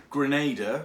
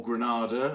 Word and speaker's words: Grenada: going to be doing Grenada or Grenada I think Granada's the English pronunciation Grenada is the American pronunciation I'm a bit conflicted